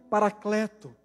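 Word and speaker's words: παράκλητος: consolar as nossas vidas a palavra grega para esta palavra se pronuncia parakleto que significa literalmente aquele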